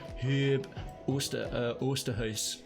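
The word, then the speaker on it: Huub Oosterhuis: And that's a quote from Hub Oosterhuis, which is a Dutch, clearly a Herb, or if I pronounce that correctly, Herb Oosterhuis, to use the proper Dutch pronunciation.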